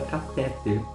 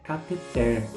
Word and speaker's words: cateter: E a gente ouve também muito a palavra catéter. Não, a pronúncia é cateter. A pronúncia do termo é cateter, que é o tubo que é introduzido no corpo humano com o fim de desobstruir, de fazer a desobstrução. Então, a pronúncia é cateter, não catéter.